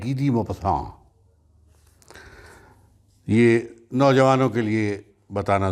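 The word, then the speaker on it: Guy de Maupassant: افسانہ ہے موپساں کا، بعض لوگ اس کو تلفظ میں گائے ڈی موپساں بھی پڑھتے ہیں، GUY سے جو کہ نام ہے۔ بہرحال فرینچ پروننسیشن اس کا ہے گی دی موپساں۔ یہ نوجوانوں کے لیے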